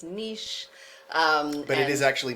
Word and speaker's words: niche: than we do but to me this rhymes with quiche it rhymes with quiche and it is niche um and you might